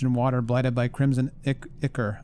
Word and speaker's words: ichor: water, blighted by crimson ichor. Ichor? How do you say that word again? It's a word I've often read but seldom had to say. Ichor. I was right the first time.